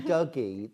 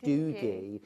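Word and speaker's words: Dougie: So rather than Douggee, they pronounce it Doogie.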